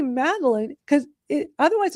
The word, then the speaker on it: Madalyn: that in the dictionary so when I say maline because it otherwise it's going to spell it m a d e l i n e and it's like no that's not how you spell it.